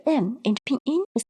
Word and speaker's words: 你: you, and the letter N in the pinyin is pronounced as N, and the letter I is pronounced as E, and the pinyin follows the third tone.